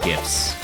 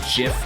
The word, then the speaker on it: GIF: for now and yes I pronounce it as GIF okay I don't care if the original maker calls it gif the only thing you're supposed to pronounce as Jif is the peanut butter oh my goodness